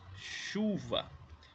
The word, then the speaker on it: chuva: O som do CH, ele é substituído pela letra X, ficando chuva.